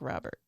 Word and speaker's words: Rober: I think I'm pronouncing his name right. Is I don't it know not what his YouTube Robert? channel. It looked like Robert. No, I Mark think it's Rober. Robert. No, it's Rober.